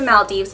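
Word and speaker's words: Maldives: saying it totally wrong but this is the Mal Dives bronzer and like I said before it smells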